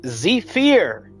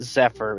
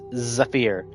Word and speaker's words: Zephyr: You're supposed to say it like Zephyr. Inside the enemy's eyes is how you're supposed to say it. It's not Zephyr, it's Zephyr.